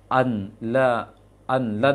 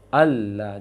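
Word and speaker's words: ألا: Jadi an lan misalnya, maka dibaca alla ilaha illallah misalnya. Alla ilaha illallah. Maka bacanya alla, jangan anla.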